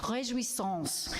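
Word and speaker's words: Réjouissance: The title of today's service, which Suzanne pronounced pretty darn well, I think. I'm not a perfect French speaker, but it's Rejouissance.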